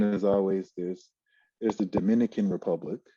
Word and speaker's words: Dominica: people in the whole country that's how you pronounce it dominica yeah so there's the confusion is always there's there's the dominican republic right and then there's dominica yeah and